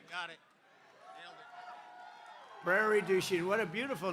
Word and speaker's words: Prairie du Chien: we're here today in Prairie Du je is that a good yeah good pronunciation you could have given